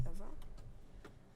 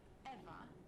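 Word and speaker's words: Ewa: Besides, Eva is spelled E-W-A, not E-V-E.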